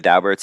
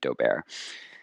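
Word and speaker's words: Daubert: just as an aside i know people who know the dalberts and that's apparently how they pronounce their name it looks like it should be dober the uh so that's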